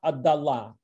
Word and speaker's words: отдала: In the feminine, отступала, ворчала, отдала. Sometimes verbs have a stressed feminine ending, and that distinguishes it from the pronunciation from the neuter singular, отступала, ворчала, отдала.